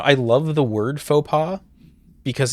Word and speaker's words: faux pas: It's a Fox Pass? Fox Pass? Oh, damn it. That's not how you pronounce it all, is it? Hold on. Hold on. How do you pronounce it? F-A-U-X-P-A-U-S. I know how to spell it. Faux pas. There's no U in that either.